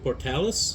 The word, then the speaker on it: Portales: How do you say that name again? Portales. Portales.